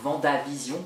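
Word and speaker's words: WandaVision: regardé c'est la série attention la prononciation ou honda vision alors c'est un w à n a pas seulement j'aime pas trop comment ça se prononce donc je préfère dire wanda vision bref cette série est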